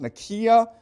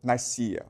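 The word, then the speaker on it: Nicaea: Okay, it's properly pronounced Nikia, but most people pronounce it Nika.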